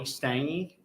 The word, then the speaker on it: Stange: begin with yes yeah my name is stange uh it's spelled s-t-a-n-g-e and uh just a little